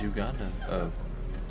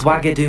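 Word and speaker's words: Wagadou: How big is Uganda? Not Uganda. Ugadao? Is that how you pronounce it? Ugadao? Is Wagadu much bigger than Wagadu, Hogwarts?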